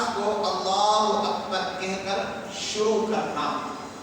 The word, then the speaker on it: اللہ: اکبر بولے، اللہ اکبر۔ آپ جو اللہ کی لام ہے نا اللہ، اس کو کھینچ سکتے ہیں، اس کو